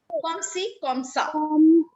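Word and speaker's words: comme ci, comme ça: But it is pronounced comme si, comme ça.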